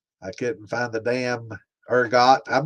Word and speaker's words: ergot: So, urgot is how we're going to pronounce it. I always thought it was like erggo, like a French pronunciation.